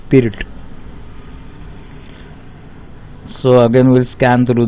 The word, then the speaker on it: Pirc: Now spelling is PIRC, but the pronunciation is pirt.